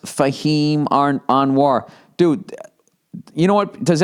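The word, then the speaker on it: Fahim Anwar: Or watch your favorite sets from comedians like Fahhem Anoir, pronounced Fahhem Anoir.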